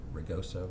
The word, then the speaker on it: Rigoso: it's pending the receipt from Mr. Rigoso, is that pronounce his name? Yes, correct. Of a resignation.